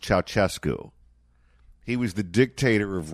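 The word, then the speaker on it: Ceaușescu: I think the name is pronounced Ceausescu.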